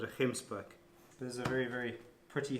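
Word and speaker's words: gemsbok: called a hemp spook a lot of the overseas guys pronounced at a Jim's back but it's called a this side we call it ahem spook those are very very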